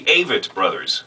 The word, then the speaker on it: Avett Brothers: The Avett Brothers. So there's how to pronounce the Avett Brothers.